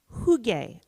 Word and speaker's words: hygge: And I want to say that some of these will help you get the hygge on.